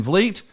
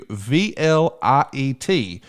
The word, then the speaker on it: Vliet: It's Insight with Chris Van Vliet. And as an old hillbilly from Alabama, let me just say, I had to double check the spelling. So let me spell it for you. VLIET.